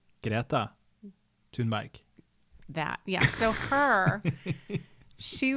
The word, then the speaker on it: Greta Thunberg: Greta Thunberg. You wouldn't say that in Scandinavia, but you can say it like that. How would you say it? Greta Thunberg.